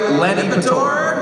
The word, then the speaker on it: Lanipator: You might know better as, am I pronouncing it right? Lanipator.